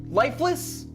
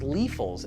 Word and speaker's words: Liefels: Lifeless? Seriously? It's pronounced Liefels, and yeah, he was our family doctor. Liefels? Von Liefels, actually.